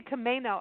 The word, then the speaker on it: Camano: okay okay because I I now say Camano Island I've got that right over the last few